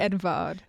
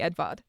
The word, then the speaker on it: Eduard: It might be pronounced like Edvard.